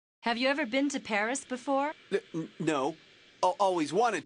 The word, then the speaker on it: Paris: of France live in Paris so this is Paris I can't believe that I've never visited the capital of France before yeah well the locals pronounce it pari karremans conducted a lot